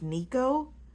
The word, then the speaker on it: Niiko: poor baby for niiko which I think his name should be pronounced Nico but the Audi book pronounces it like Nik the sicko anyway ni the sicko